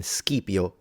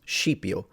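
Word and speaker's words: Scipio: same way classical Latin the s c was a SK like in skipio Africanus but then that becomes shio not only in in in Italy in Italian but also in in the Italian pronunciation of Latin AKA ecclesiastical Latin probably something that happened was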